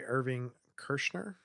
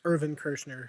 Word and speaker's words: Irvin Kershner: It was directed by Irving Kershner. If I always mispronounce his name. But well, you've got a dog named Irving, but it was Irvin Kershner, one of his film teachers at USC.